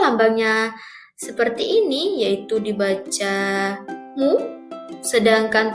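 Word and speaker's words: μ: 40 lambangnya seperti ini yaitu dibaca mu. Sedangkan 7 itu lambangnya zeta. Lambangnya seperti itu ya, bacanya zeta.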